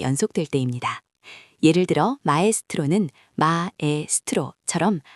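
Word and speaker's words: maestro: 예를 들어 마스트로는 마에스트로처럼 아와 에가 각각 발음되죠.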